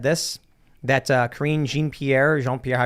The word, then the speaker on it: Jean-Pierre: pathetic that biden said this that uh karine jean pierre jean-pierre pronounced reaffirmed it uh but it is kind